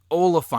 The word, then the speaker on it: Olyphant: and it just worked so well um Timothy Olaf is that how you pronounce his last name yeah okay so he